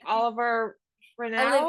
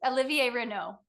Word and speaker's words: Olivier Renault: I think you were in a Christmas movie 2 years ago with, I apologize if I'm mispronouncing his name, Oliver Renaud, Olivier, yeah. So it's Olivier Renault.